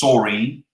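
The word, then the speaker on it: Soreen: Which brand of malt loaf rhymes with Doreen and Maureen? It's Saureen.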